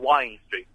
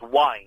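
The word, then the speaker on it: Wind Street: in one street called Wine Street. Spelled W-I-N-D, but pronounced wine as in the drink.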